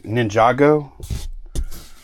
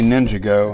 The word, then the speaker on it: Ninjago: say it though ninj Ninjago I used to say ninjo and I don't think that was right but we're going to